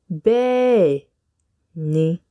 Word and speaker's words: Bẹ́ẹ̀ ni: in Yoruba yes in Yoruba is Benny bae ni bene simple isn't it yes